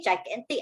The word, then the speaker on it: gigantic: can read better okay gigantic sounds like the word giant okay gigantic actually means very great